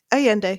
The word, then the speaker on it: Allende: The characters are all really like I was more compelled by the characters of how am I supposed to say it? Allende, you said it right.